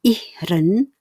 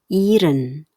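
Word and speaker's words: ihren: Perhatikan ya cara bacanya. Bukan ihhren melainkan iren.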